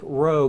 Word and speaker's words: rho: an are not AP that is a row so think row go ahead and write